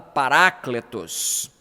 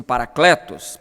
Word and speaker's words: paracletos: de um modo geral é palavra paracletos alguns pronunciam parakletos tanto faz mas paracletos aqui é